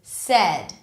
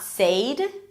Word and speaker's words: said: in red, head, and said. Notice that it's not said, it's not the diphthong A.